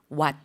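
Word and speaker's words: วัด: 그래서 발음이 what. 예, 태국어는 성조 언어이기 때문에 성조에 따라서 뜻이 달라지는 거 알고 계시죠? 그래서 what, 사원이라는 단어와 what, 감기라는 단어 성조 구분해 주시고요.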